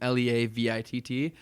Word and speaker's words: Leavitt: So first name, last name, Leavitt.